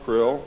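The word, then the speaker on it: Krlll: His name and title was His Omnipotent Highness Krill, pronounced Krill, spelled K-R-L-L-L or C-R-L-L-L.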